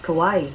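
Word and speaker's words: Kauai: can you pronounce k-a-u-a-i that's pronounced kawaii kawaii okay kawaii coffee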